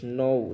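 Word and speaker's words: know: জানা, নৌ হতো জানা, নৌ হত কে এন ও ডাব্লু, কে এন ও ডাব্লু হচ্ছে নৌ অথবা জানা, আর নন হচ্ছে কে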